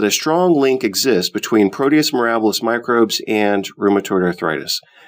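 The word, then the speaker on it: Proteus mirabilis: strong link exists between Proteus marabous microbes and rheumatoid arthritis Proteus marabis can also be pronounced Proteus miralis we proposed that subclinical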